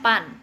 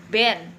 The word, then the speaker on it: pan: Pingin B A di sini bacanya pan. Pan ya. P A N bacanya ya. Pan ya. Nah, bukan band bukan ya, Teman-teman ya.